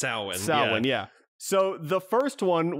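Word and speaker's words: Samhain: so weird well they say it's they say sam hayne in the movies but it's pronounced souwan yeah so the first one was michael myers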